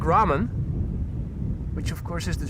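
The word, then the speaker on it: raam: Ram is how you pronounce it.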